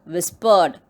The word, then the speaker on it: whispered: The third word is whispered. It has 2 syllables. WHIS, whispered. PRED. Whispered. How to pronounce? Whispered. Here also R is silent.